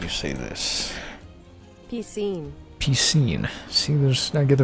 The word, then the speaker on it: Piscine: that and now that people say pie scene like I said and according to this it's piscine you see and I've been avoiding